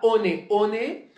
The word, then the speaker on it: One One: dis one alors certes si tu dis ok on est on est et bien oui parce qu'il faut dire non